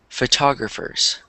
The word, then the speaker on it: photographer: Um, oh, and then I was going to say this word, photographers. Photographer. There you go. So, photographed, but then this is photographer. So, it's it's weird how it changes.